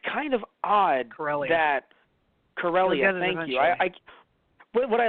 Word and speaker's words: Corellia: have liked if they knew each other on Cresselia, because it's kind of odd that Corellia.